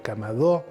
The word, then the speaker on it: kamado: Los japoneses cuando construían la vivienda construían el camadó, se pronuncia, se acentó a la o en japonés.